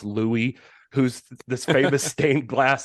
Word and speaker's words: Louis: and let's be honest that's probably supposed to be pronounced Louie who's this famous stained